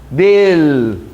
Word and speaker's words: del: Só tem dificuldade quando ela está no final da sílaba. Não é um. Não é um. Del. Aí sim, a língua vai para cima.